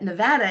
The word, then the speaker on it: Nevada: one of their conferences to present um that Nevada is how you say it um join together